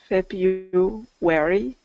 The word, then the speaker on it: February: February. Good. So it has that invisible Y again. February. Okay. So that R doesn't get.